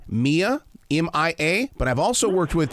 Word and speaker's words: Mia: it off with one thing my granddaughter uh pronounces her name Mia M.I.A but I've also worked with people her name